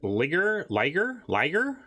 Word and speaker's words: liger: Huntmaster Liger? I assume it's a tiger, so it rhymes with tiger.